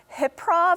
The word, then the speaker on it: HYPROV: Edo Center um and the show is called hip prove am I pronouncing that right yeah well done what is hip Prof so the name of the show is hiprov the tagline is improv under hypnosis I'm the